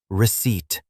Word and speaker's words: receipt: And just like isle, this word has a silent letter because the letter P is completely quiet. So it sounds like receipt, which is your official proof of payment.